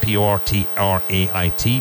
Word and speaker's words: portrait: Retrato, retrato, portrait, portrait, spelled P-O-R-T-R-A-I-T, pronounced portrait, portrait, portrait.